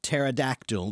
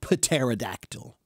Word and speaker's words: pterodactyl: silent that's right the the P is a silent sound right pterodactyl you don't say paterodactyl okay but that's why